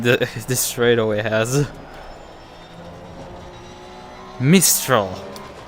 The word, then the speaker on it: Mistral: letter in it mistral in this case i actually got the full name right except that i pronounced the last letter which um well it's french so the last letter is always there just for decoration purposes miss kill okay